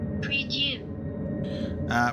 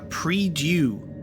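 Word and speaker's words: Prie-Dieu: Pre-due. Pre-due. So it's a, there you go, pre-due. Pre-due. Saving your game, refilling your health and your flasks by resting at the pre-due.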